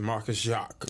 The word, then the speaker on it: Marcus Jack: His name was Marcus Jack, but he would pronounce it Marcus Jacques.